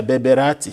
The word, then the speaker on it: Berbérati: Is it, I'm pronouncing it correctly? Yeah, Berbérati.